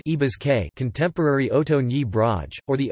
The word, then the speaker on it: Ñí Brásge: Nebraska's name is derived from transliteration of the archaic Oto words Nebraski, pronounced Ibazke, contemporary Oto Nebraj, or